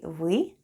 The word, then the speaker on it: вы: The first sound is v and then goes y. Try saying e while pushing the tongue to the back of your mouth.